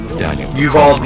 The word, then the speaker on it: Uvalde: Uvalde is the pronunciation.